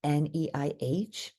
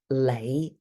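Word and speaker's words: 你: is written with an neih and it's a fifth low Rising uh most people pronounce this as Le with an l sound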